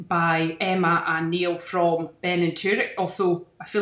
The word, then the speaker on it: Beinn an Tuirc: I think that's lovely pronunciation, Beinn and, that's how my Welsh dad says it actually, Beinn and Tuirc.